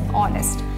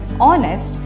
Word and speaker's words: honest: So the general explanation which you would receive is H is silent, so it is pronounced as honest. But if you look into the case of phonetics, in that when we transcribe the word honest, we do not use the sound H.